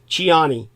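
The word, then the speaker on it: Tchiani: Omar just call him Omar his surname is chiani uh t c h i a n i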